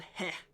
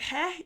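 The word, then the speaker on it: Heh: There's this god called He. He's got this very annoying name that is very stupid for me to pronounce, but there's this god named He.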